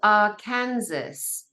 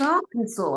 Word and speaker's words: Arkansas: Arkansas is spelt Arkansas. So Arkansas. you're an outsider. How could you possibly know that that's Arkansas unless you've got some kind of Dutch verbal language knowledge?